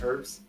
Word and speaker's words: herbs: Oh, isn't that herbs? But over in England they use herbs. Yeah. The language that which they gave us that they pronounce the H and we don't.